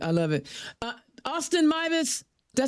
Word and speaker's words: Meives: Uh, Austin Mus.